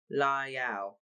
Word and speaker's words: Lyle: She was well, she recognised the accent now, the way she spoke his father's name in two gentle syllables. Lyle.